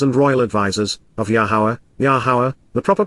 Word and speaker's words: Yahowah: kohani as ministers and Royal advisers of yahuwah yahuwah the proper pronunciation of yahuwah are a lower God is